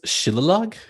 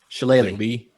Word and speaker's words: shillelagh: Shillelagh? Shillelagh. Shillelagh. Okay. Oh, Shillelagh. Shillelagh. Okay. Yeah, Shillelagh. It really only works if you try an accent.